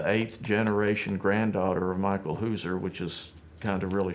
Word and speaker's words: Hauser: Sort of a surprise to me, well, I married a Hauser, and that's the pronunciation in Forsyth County of H-A-U-S-E-R.